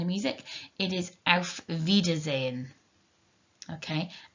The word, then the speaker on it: auf Wiedersehen: songs from the sound of music it is auf wiedersehen okay auf wiedersehen so those are our ways to say hello